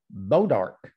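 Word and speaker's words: Bois D'Arc: little town about five miles from here called beaudark but if you look at it it's b.o.i.s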